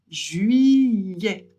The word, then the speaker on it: juillet: ET à la fin d'un mot, ça fait toujours donc on prononce juillet.